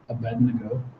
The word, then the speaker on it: Abednego: I was almost my whole life I've always mispronounced Abednego it's a B II D and E G